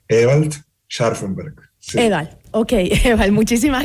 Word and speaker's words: Ewald Scharfenberg: Claro, creo que soy venezolano, soy hijo de alemán y eso se pronuncia Ewald Scharfenberg.